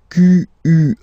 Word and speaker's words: quel: Quel, masculine form here, will be pronounced exactly as the feminine form here. Quel.